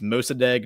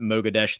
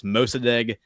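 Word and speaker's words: Mosaddegh: in chat said it's it's mosad not madesh that's correct that was just me that was my my Irish tongue not being able to pronounce foreign words as well so it's mosad not madesh that was the president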